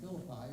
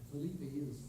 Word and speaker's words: Philippi: brethren at the brethren at Philippi or Philippi sometime pronounced.